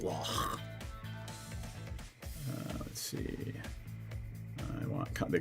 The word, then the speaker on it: Loch: You have to pronounce it like that, Loch.